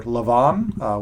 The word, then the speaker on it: Lavan: His name was Laban. It says here Lavan, which is the better pronunciation of his name.